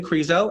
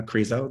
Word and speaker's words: Crezo: will let you know uh Carrizo that rhymes with Creepshow um and so we're bringing the spook spookiness to this this reading um but Adrian grizo uh she her is